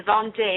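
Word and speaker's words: Vendée: We're going to the Vende area, the Vonde. I'm probably pronouncing it correctly.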